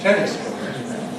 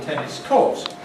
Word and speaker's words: tennis court: Tennis court, tennis court. It's a court for tennis. It's not called a tennis court. It's called a tennis court. Tennis court. Tennis is strong, court is weak.